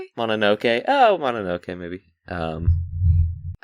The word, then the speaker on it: Mononoke: but I am going to go see Princess Mononoke in theaters today. So, that's fun. Is Is it Mononoke? Not Mononoke? Mononoke? Mononoke. Oh, Mononoke movie.